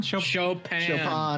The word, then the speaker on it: Chopin: So, Thomas, can you go ahead and spell how is it pronounced? Chopin? Chopin. Chopin. Like the piano? Chopin. Chopin. It's pronounced Chopin, actually.